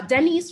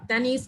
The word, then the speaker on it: Denise: to uh denise uh dennis rather denise if you're spoiling him please correct me um so denise uh is that the is that the case in terms of how your name is pronounced please unmute and just let me know yes it is it's the knees jesus hallelujah all right